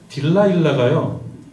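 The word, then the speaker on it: Delilah: 걸 저도 들어봤습니다 근데이 딜라일라가 그 영어식 발음인 거예요 영어식 발음 딜라일라 d e i l a 딜라일라 이게 딜라일라가 뭔가 이게 삼손과 들릴라 할 때 그 들릴라가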